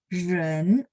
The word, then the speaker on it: 人: Jadi bacanya ren, lidahnya diangkat. Ren ya, ren.